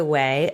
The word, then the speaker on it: Ouai: It's the Ouai, O-U-A-I.